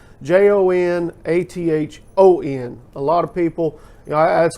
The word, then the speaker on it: Jonathon: And my mother gave me that name spelt with an O and always said that it was like the old English spelling of Jonathan. So it's Jonathon.